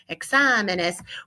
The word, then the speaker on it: exámenes: The stress is falling on the second to last syllable when it's singular, so no need for an accent mark. To conserve the sound, keep the word sounding just like examen, just plural, exámenes, we add the es, and that's when we need to add the accent on the A.